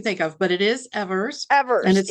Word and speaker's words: Evers: it's okay because I get everything you can think of, but it is Evers, and Evers.